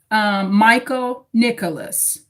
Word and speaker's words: Michael Nicholas: So the correct pronunciation is, and confirm if I'm saying it right, Michael Nicholas.